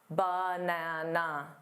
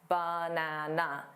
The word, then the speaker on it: banana: It's not a banana, da da da, banana.